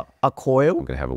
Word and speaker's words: Accoil: Because even these things, I think, I don't know how you're doing Accoil. How do you pronounce it? Product name. Accoil? I'm going to have a word with Simon about this. Accoil, yes.